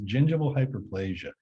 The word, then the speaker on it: gingival hyperplasia: do not say it wrong no problem it's gingival hyperplasia and so the photo is of someone's teeth